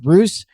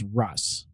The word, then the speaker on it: Russ: it it seems like i've heard it pronounced bruce but most of the time it's russ okay yeah but i have heard risk before yeah and i think